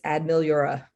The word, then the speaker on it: Ad Meliora: for those of So you playing along at home, it's Ad Meliora.